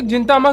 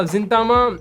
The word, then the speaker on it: Gintama: Then दूसरी चीज है कि या जिंतामा गिनतामा, मैं जिंतामा बोलता हूँ, ठीक है। तो गाइस जस्ट मतलब नेग्लेक्ट करना इस चीज को, मेरी जिंतामा बोलने की आदत है। हर किसी की अपनी प्रोनाउंसिएशन होती है, बहुत लोग गिनतामा बोलते हैं इसे, मैं जिंतामा बुलाऊंगा।